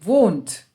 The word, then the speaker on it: wohnt: So here the H is silent and we say wohnt.